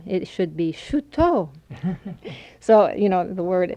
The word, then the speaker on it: Chouteau: to you pan that you notice that I said shoot oh now people in Oklahoma say Shoto that's just the way we always pronounced it and when